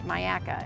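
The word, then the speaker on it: Myakka: area section also and this is Maya so Myaka is out east of the county it's in uh uh Manatee and in Sarasota County but it's pronounced Myaka and there's a state park uh and there's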